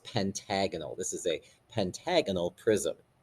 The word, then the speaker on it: pentagonal: Okay, the word pentagon with AL at the end, and again, that's pronounced pentagonal.